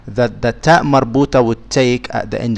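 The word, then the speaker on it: تاء مربوطة: The ta marbuta is unique. If it's at the end of the speech, it is pronounced as a ha.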